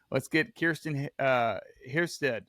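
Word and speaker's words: Heston Kjerstad: I think everybody's like, let's get Kirsten Hiersted.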